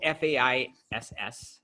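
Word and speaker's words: FAISS: this one it's called fai SS i think it's pronounced face it's actually produced by face book so face is actually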